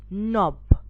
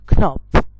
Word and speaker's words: knob: knock this is called knob not knob so if you see here these three words the k is silent in it so most of the